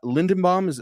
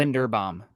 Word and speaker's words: Linderbaum: Lindenbaum, am I pronouncing it? Linderbaum. Linderbaum. Okay, Yeah, I think he's gonna go somewhere from pick 18 to 30.